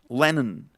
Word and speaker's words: Lennon: Y en todos los apellidos que traen al final son, en realidad ya no se va a pronunciar la O, sino va, por ejemplo, a ser Johnson, Lennon, Harrison, Lennon, Harrison, Johnson,